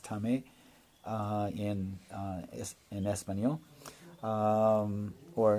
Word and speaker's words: TAME: Tom may or it's it's da mãe it's pronounced tummy in is in espanol or in English that would be tame Airlines that would be the way to go